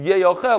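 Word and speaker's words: יאכל: The Mikra, the way we read it, pronounce it, is Yeyochel, like you guys scream out. Yeyochel means shall be eaten. Yoichal means you should eat it. It's very different.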